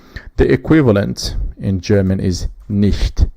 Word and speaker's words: nicht: The equivalent in German is nicht. Now you hear a different pronunciation from ch here, which is che. it is not exactly sh in English, but this is she, like someone who has a lisp, or instead of saying,